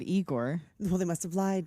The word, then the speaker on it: Igor: Frederick well no he's like you must be Igor no it's pronounced Igor they said Igor well they must have lied didn't they my